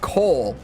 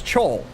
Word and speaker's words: Cole: And they commented and said, oh shit, it's pronounced Cole. Because they probably thought, like most people, that it's Chole, which it is, Chole.